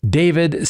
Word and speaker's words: D4vd: The vehicle was registered to David Anthony Burke, uh, professionally known as the 20-year-old singer David, spelled with a four.